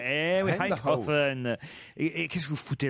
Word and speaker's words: Eindhoven: Voilà, très bien prononcé, Eindhoven. Eh oui, Eindhoven.